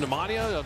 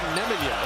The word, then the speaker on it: Nemanja: Instead of Nemanja. Called him Nemanja his whole career, but that is now he would prefer Nemanja as Curry can't quite flip it in.